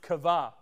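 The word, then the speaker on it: קוה: couple meanings one of the meanings is is pronounced kava that word means to bind together wait those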